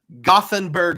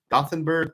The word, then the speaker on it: Gothenburg: So I was told on a tour that either pronunciation is fully acceptable. You can say Gothenburg or Göteborg.